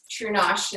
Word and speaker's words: True Nosh: And I decided to rhyme with True North, where I was born, which is the True North, strong and free. And then True Nosh is how I decided